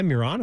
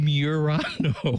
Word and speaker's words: Murano: You going to get You're going to give me crap over how I pronounce a Nissan SUV? Murano. Like there's some proper way to say it.